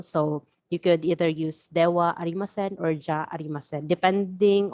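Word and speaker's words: では: Notice again that ha here for romaji purposes is spelled as ha because if you are going to write again in Japanese sentences, it is spelled using the hiragana ha. However, this is read again as dewa arimasen.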